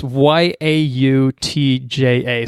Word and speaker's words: Yautja: The Yautja, I think is how it's pronounced. I think it's the creature's species. Yautja, I think. Yautja. Yautja. It's Yautja.